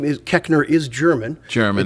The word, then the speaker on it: Koechner: so they all said kechner nowhere in the english language does the oe make the short e sound so we're saying it